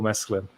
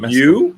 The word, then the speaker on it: Mescal: Like I actually had a bit of an argument with someone on Twitter about Paul Mesclun. Paul Mescal. I get his name wrong all the time. Mescal.